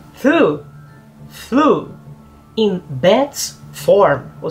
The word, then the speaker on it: Thû: Existe uma diferença aí, alguns falam Thû, outros falam Thã, e eu não consegui num acordo aí. Eu falo Thû, porque é T-H-U com circunflexo.